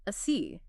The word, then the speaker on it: asi: And they're connecting this futuristic concept of super intelligence to a specific ancient concept called a C, which just to make things confusing for everyone is spelled ASI, right?